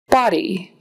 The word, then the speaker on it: body: I heard you today body body that's like a short o a a body not